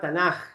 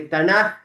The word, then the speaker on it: Tanaj: Y los ketubin, porque Tanaj se escribe con la K y la H, que se pronuncia como una J, pero en realidad es con K.